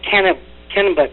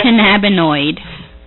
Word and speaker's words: cannabinoid: you know i needed to know about the kenneth kennebut boy how do you say it amanda cannabinoid thank you canada however so she gave me